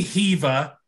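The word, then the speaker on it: Hever: maybe Heaver. You know, what's going on there? Heaver. It rhymes with beaver.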